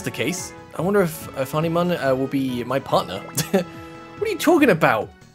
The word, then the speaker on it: Ophanimon: someone said it's pronounced Ophanimon.